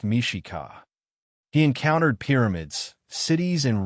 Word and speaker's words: Mexica: Tenno Titlon, home of the Mexican people pronounced Mishika.